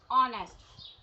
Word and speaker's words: honest: Because first letter is silent.